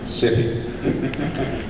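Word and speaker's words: Syfy: It's now pronounced, for those who haven't heard, spelled S-Y-F-Y, so it's now being pronounced City.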